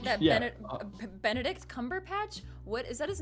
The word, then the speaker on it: Cumberbatch: this movie yes it's it's cumberbatch kind of like a batch of cookies peppers i'm jake has